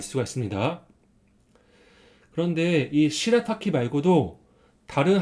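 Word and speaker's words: 白滝: 의미로 일본에서 사용해요 그래서 하얀 포포를 시라타키 합니다 그래서 흰은 덕으로 랄하고 있고 그다음에 여은 덕으로 타기라고 읽어요 그래서이 사진이 하얀 폭포인데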